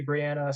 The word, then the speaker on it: Bryana: Today, I'm joined by the lovely Brianna. Is that how you say it? Yep.